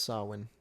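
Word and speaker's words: Samhain: Yeah, it's Sawin. Cool. It says that's how it's pronounced.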